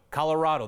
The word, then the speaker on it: Colorado: do you say Colorado there it is rado Colorado that is what the governor says but you